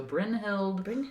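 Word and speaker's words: Brynhild: of this name uh Brin Brin hild Brin Hilda no just Brin hild Bild brind hild it's b r y n h i l d so Brin hild Paul's d storth okay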